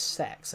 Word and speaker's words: CEX: It's basically it's actually pronounced sex actually.